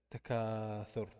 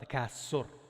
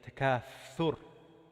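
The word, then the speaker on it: التكاثر: After Al-Bayna, we said Takathur. It's not Takasur. It's TH. Thu, thu, thu. That's how you say it. It's like thunder. Fa, fa. You know the letter Tha? It's the surah is named Takathur.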